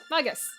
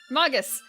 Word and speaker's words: Magus: Magus. Magus. It sounds so close to maggots then.